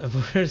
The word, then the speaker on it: Vogel: Prononcé à la française, Vogel, c'est le méchant dans Tais-toi et je confirme qu'il boite pas.